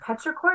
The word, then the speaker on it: petrichor: Petrichor is how you say it?